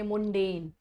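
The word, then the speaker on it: mundane: Pronunciation लिख रही हूँ, मंडेन। कुछ लोग पढ़ रहे होंगे मुंडेन, MUN निकाल रहे हो इसका प्रोनाउंसिएशन, क्या प्रोनाउंसिएशन क्या है, मंडेन है।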